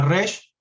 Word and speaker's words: Resh: Bueno, la resh se puede pronunciar como R, ¿no? O gutural, como si fuera una GR al mismo tiempo, ¿no? Bueno, resh, ¿no? O como una G arrastrada, ¿no?